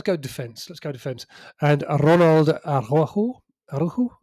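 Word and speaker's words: Araujo: Aru. Arjo. Arjo. Arjo. Arjo I think is the way to pronounce it.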